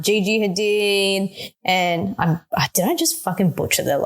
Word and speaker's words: Hadid: like unfollowed like Bella Hadid and like Gigi Hadid and did I just butcher their last name but anyway you said it